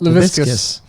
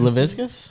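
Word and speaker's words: Laviscus Shenault: Laviscus. Levis. What should it be? Yeah. LaVisca? Laviscus. Is it Leviscus? It rhymes with biscuit.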